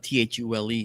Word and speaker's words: Thule: Uh t h u l e is pronounced Thule.